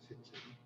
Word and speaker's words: 쇠청: 슬쩍 굽거나 하는 걸 우리 전통 공예의 용어는 쇠청이에요. 근데 뭐 이 글자에 대한 발음에 대한 차이를 이제 무마해가지고 살청이라고 하는 사람들이 들어 있어요. 그래도 지금 많은 사람이 살청으로 쓰니까 뭐 쓸 수도 있겠지만 원래는 쇠청이라고 그렇게 했다는 거예요. 쇠청.